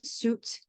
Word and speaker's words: suit: And the UI in suit, where the I is silent.